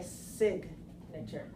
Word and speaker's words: signature: belongs to right so the word signature is different because we pronounce the G in this word so if I write the noun form the noun form then in this case we say signature so we see sometimes